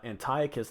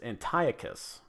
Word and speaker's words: Antiochus: Apparently, it is Antiochus, not Antiochus.